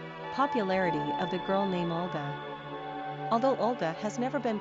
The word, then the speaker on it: Olga: Pronunciation, Olga.